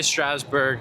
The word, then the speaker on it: Strasbourg: It said the G was silent, so I'm not really sure how to say it. I'll just say Strasburg, even though it's probably not right.